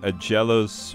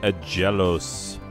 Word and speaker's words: Aggelos: having feelings about it so a jealous which is how i'm going to pronounce it i know that other people have pronounced it different ways and you know what they can feel about it however they want i know that it's pronounced a jealous anyway uh based on simple phonetic rules um so yeah a